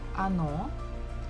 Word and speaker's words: оно: Next word is оно. So again, the second syllable is stressed, so we must pronounce it O. The first one is not, so we pronounce it as A. Она.